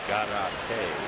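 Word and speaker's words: Gárate: Rhymes with karate, so Victor Garate.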